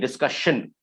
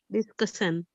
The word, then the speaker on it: discussion: Discussion, nahi, discussion. Discussion. Yeah. So SS or ION से end होने वाले words को pronounce कीजिए.